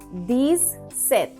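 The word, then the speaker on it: dix-sept: 10 is D-I-X, 7 is S-E-P-T. These saith. These saith.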